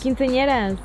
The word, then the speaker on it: quinceañeras: Quinceañeras.